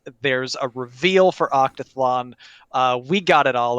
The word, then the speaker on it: OctaTHLon: pronouncing it hold on is that how we're pronouncing it no it's octathlon uh yeah i don't know i didn't know the official pronunciation the capital thl is just for branding purposes not for pronunciation purposes but i do appreciate